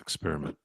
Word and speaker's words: experiment: Don't don't don't you don't need to put ox in front of it.